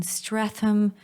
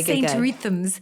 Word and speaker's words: Streatham: He was living in Streatham. Streatham. Streatham, babe. I love the way you pronounce stuff. Yeah, go. St. Rethams. Streatham.